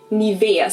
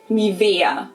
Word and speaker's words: Nivea: Nivea. So the emphasis is on the E. Nivea.